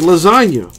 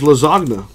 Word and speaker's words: lasagna: them in the word like lasagna the G silent in that what's the point of putting a random G in there if it's not gonna be pronounced lasagna yeah just little things